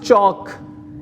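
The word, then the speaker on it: chalk: एंड the last is चॉक, एल is silent.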